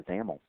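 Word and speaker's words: XAML: is determined by the zaml um by the way zaml X m l is the is the acronym there and that's pronounced with a you know rhyming with camel so let's go ahead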